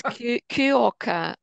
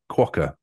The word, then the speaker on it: quokka: Yeah, it's I don't know how to pronounce it. It's Cuoca.